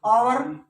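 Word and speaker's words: hour: आवर H silent, हावर नहीं होता, 1 हावर late नहीं, 1 आवर लेट, आवर का करो इसको आवर, तो ए साउंड है नहीं। हाइट, हाइट बोलते हो, हल्का एच साउंड है।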